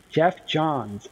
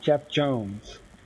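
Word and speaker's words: Geoff Johns: And then Jeff Jones is like number 2, right? Jeff Johns. It's not Jeff Jones. Listen, Johns, like your name.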